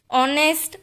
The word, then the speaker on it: honest: क्योंकि H silent है और उसके बाद O है और उसका प्रोनाउंसिएशन भी O से ही स्टार्ट होता है. ऑनेस्ट, our, सो ये दोनों